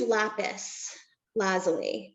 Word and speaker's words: lapis lazuli: I will use lapis lazuli in combination when it's and you said it right.